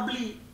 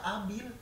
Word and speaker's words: Abil: Nah, pas tahu-tahu udah kelar, pas udah perkuliahan pertama, ternyata ada satu grup yang namanya gue bacanya Abli. Ternyata Abil.